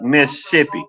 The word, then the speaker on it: Mississippi: Yeah, but when you come down here, you're going to have to say it like Mississippi. You skip one of the S's.